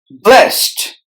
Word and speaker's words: blessed: end are silent where blessed blessed S and E are silent and the letter D is pronounced with the T sound so blessed best determine